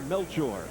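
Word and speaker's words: Melchor: He prefers the pronunciation Melture.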